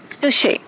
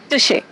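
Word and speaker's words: touché: So let me tell you first the pronunciation of this word. We say touche. Say with me, touche.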